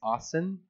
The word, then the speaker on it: Austin: I've always say it wrong. It's not Oskin, right? It's Austin.